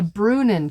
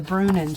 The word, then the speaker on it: Bruinen: figured it out anyway it is called The brunin Shaw it's spelled b r UI NE n and I